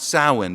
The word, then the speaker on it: Samhain: head on with a festival called Samhain, actually pronounced Samhain because apparently the Celts got their W upside down.